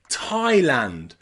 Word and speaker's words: Thailand: or Hawaii or even Thailand here the A and the I are pronounced I I Thailand Taiwan or Hawaii with